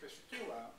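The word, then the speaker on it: πιστεύω: It's pronounced in Greek, pistuo.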